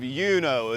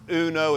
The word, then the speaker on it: Uno: the big community of yuno it's not Uno it's pronounced yo there's not a whole